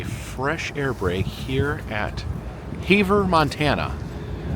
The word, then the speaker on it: Havre: air break here at Havre, Montana. Now, I was going to say Havre. I looked it up. I thought it was Havre, but someone on the train informed me it is pronounced Havre.